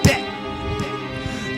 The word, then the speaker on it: debt: Young people dread going to college, terrified of accruing more and more of an invisible concept, debt. Do you want to know why the B in debt is silent?